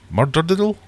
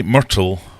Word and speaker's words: Myrtle: it's pronounced murder ddle murder dle that can't be right mled you just take it to best surely uh say Myrtle like turtle with an M myrtles Myrtle sing there